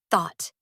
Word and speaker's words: thought: For thought, the vowel sound is a short o or an aw sound, like in caught or bought. So, it's thot-tee tee. The GH is still silent. But, the vowel before it has changed completely.